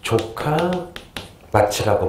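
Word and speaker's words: 城下町: 발음 조심해야 돼요. 조카마치라고 불러요.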